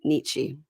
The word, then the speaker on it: Nietzsche: switch over to Birkan in Turkey, who's reading Nietzsche. Yeah. I've never read Nietzsche. I did major in English, but wasn't required, so I didn't read it. Yeah. All I know is Is Nietzsche it is a Nietzsche or Nietzsche?